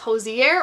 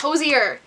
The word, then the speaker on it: Hozier: say his name correctly because everyone's like, it's Hozier or Hozier, and I'm like, those both sound wrong. So I looked it up before this video. It's Hozier.